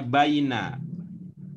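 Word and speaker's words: بَيْنَ: Ini kata baru, ada ba, ada ya, ada nun. Nanti kalau ketemu ingat aja ini bacanya baina.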